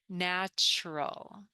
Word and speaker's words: natural: instead of saying natural the tur becomes CH natural so it's kind of pronounced more like this kind of like natural